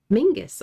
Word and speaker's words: Menzies: Before Derwent Smith, there was John Menzies, pronounced Mingus. Oh, okay. Nope, it's Menzies now.